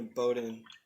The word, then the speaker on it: Bowdoin: maine but like what's cool i'm going to bowdoin i said it right this time a lot